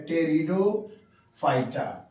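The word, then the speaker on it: Pteridophyta: है कि bryophytes टेरिडोफाइटा टेरिडोफाइटा में हम लोग पी साइलेंट है लिखते हैं पटे रिडो पी साइलेंट है टेरिडोफाइटा पहला ये प्लांट है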